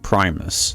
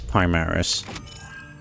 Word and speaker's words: Primaris: Why does he call it Primus, not Primaris? It's like, is that an actual... That isn't an actual lore thing, is it? That's just... He just pronounced it wrong.